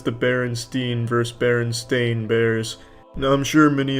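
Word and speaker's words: Berenstain: book each week, and it was always Steen in my report. And strangely enough, I used to actually pronounce it Baron Stain, but I was constantly corrected by the teacher and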